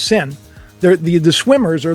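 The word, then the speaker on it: Seine: sick swimming in the scene it's we say scene but it's actually pronounced sin the the the swimmers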